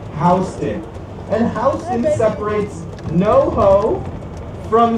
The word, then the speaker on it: Houston: Yes, that is pronounced Hston and Hen separates no from Soho.